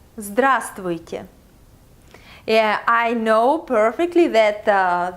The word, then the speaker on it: Здравствуйте: Yeah, I know perfectly that this word may sound very difficult to pronounce. And if you have never learned Russian before, you should know that it's typical for Russian language to have 2, 3 or even 4 consonants together. But it's not that difficult after you get used to it.